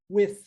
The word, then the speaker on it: with: Outro detalhe aqui que nós temos que eu quero chamar a sua atenção para é a pronúncia da palavra with. Ó, TH no finalzinho, não vozeado, with.